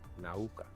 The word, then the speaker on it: Nauka: Nauka. You got to say it right. Nauka.